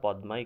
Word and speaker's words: পদ্মা: ocean Suez ক্যানেল পদ্মা তোমরা উচ্চারণটা পদ্মাই করবা পদ্মা উচ্চারণ তারপরেও পদ্মা করবা কেন পদ্মা করবা কারণ হচ্ছে তুমি যখন বানানটা লিখবা তখন যারা উচ্চারণটা পদ্দা করবা তারা পি এ ডবলটি এ লিখবা এটা ভুল হতে পারে এজন্য প্রথম প্রথম একটু ভুল উচ্চারণ করাও ভালো তাহলে তোমার বানানটা অন্তত ঠিক থাকবে এরপর আস দ্বীপপুঞ্জ দ্বীপপুঞ্জ যেমন